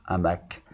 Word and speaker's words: hamac: c'était le numéro deux a mac et ça s'écrit avec le hash qui est muet à mac on entend tous les sons la seule confusion ne